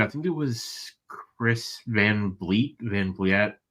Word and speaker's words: Van Vliet: I think it was Chris Van Vliet. How do I say his name? Van Vliet, yeah.